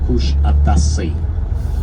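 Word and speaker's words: Kuşadası: That's how we pronounce the name of this beautiful town, Kush Atasi.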